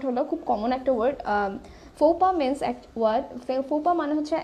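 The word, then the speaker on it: faux pas: সো the word here is ফোপা, ইটস ফোপা। সো ফোপা বলার পর এটা অ্যাকচুয়ালি একটা ফ্রেঞ্চ ওয়ার্ড।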